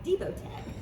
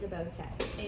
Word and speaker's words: DeBoTech: great because I would have been pronouncing it DeBoTech, and I know Yes. that's incorrect now. It's DeBoTech. Am I correct? DeBoTech is correct. DeBoTech, and founder and CEO Yes, of ma'am.